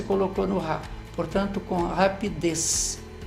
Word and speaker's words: rapidez: Essa palavra, olha, rapidez, ela é uma palavra cujo som mais forte é na última sílaba. Então, ela é uma palavra oxítona.